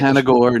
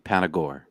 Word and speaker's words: Panagore: Let me get Panagore, no accent on the E. Panagore.